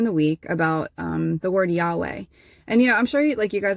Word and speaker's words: Yahweh: word Yahweh is that the consonants in Yahweh are the only ones where if you're pronouncing it correctly, you don't have to use your lips or your tongue. And so there's like literally the way that it's pronounced is supposed to replicate breath, so that when you're saying Yahweh, even just with the consonants, that it's like, right?